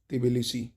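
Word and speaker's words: Tbilisi: वो देख लेते हैं जॉर्जिया की राजधानी दोस्तों तिबल स है क्या है तिबल स याद कर लो आ सकता है इसी टाइप की राजधानियां पूछा जाता है तिबल स तिबल तिबल क्या है तिबल ठीक है जॉर्जिया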